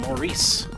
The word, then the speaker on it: Morris: at John Morris rosette Morrison I think it's Morris it's pronounced Maurice anyway I got myself this